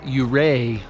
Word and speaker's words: Ouray: in the area and the town is actually pronounced you Rea like hooray so the first part